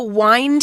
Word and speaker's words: wind: So wind here, it's a verb, and as a verb, it's pronounced with a long I sound instead of wind, as we know it as a noun.